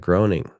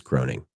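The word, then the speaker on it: Groening: U Matt Groing Groing. He's American cartoonist and writer. I think it's groaning, but he wrote The Simpsons and Futurama.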